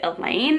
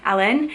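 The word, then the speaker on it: Alain: a i n but the audiobook narrator for this series pronounces it as almost like Alan but there's there's a little bit of an accent to it so Alan and that's our first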